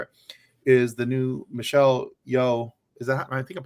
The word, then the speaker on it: Yeoh: of days for it is the new Michelle Yeoh. Is that, I think I'm pronouncing her last name properly? Michelle Yeoh. Mm-hmm. Yeoh.